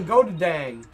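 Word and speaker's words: Goedendag: Oh fuck it, I want to try the Goudag. I'm taking everybody out! The Godadang. That's literally the weapon I'm currently holding. It is. It's spelled G-O-E-D-E-N-D-A-G. What do you call the Godadang? It's called the Godadang.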